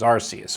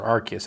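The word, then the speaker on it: Arceus: syil was in Legends arus or archus however you want to pronounce it so it does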